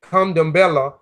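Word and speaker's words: Candomblé: Kandambala, pronunciation Kandambela, dance in honor of the gods.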